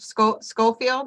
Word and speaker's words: Schofield: Schofield, am I saying it correctly? That's correct.